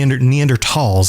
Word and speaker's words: Neanderthals: might think okay there were the neanderthals the neanderthals is actually the way to pronounce it as far as i've i've learned